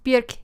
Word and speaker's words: Björk: Have you guys seen that video where she says, it's Björk, it rhymes with jerk?